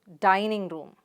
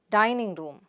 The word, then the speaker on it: dining room: rule again for you most compound words have primary stress on the first element so how do you pronounce it dining room the stress is on the sound here dining room dining room good now the next